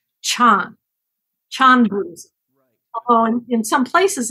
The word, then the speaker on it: Chan: it would be called Chan Chandra oh in some places in China Chan is is pronounced pretty much like Zen oh okay but it